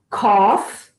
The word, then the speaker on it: cough: Então, gente, é para observar que essa combinação de letras O, U, G, H tem essas quatro pronúncias diferentes. Tough, bow, cough, and dough.